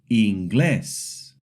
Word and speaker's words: inglés: For example, inglés. The accent mark tells us to stress the last syllable.